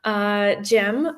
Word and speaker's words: Cem: Everybody call me Cem or, but it's Cem. I always tell this to everyone in every meeting, in every speech, in every just to let you know that it's written C-E-M, but it's spelled Cem.